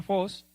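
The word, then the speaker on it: φῶς: griego significa 2 y cómo se pronuncia fos qué significa brillar hacer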